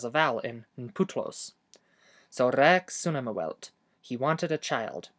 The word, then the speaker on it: rēks: Also, remember to pronounce the e in rex twice as long as normal. Not rex, but rex.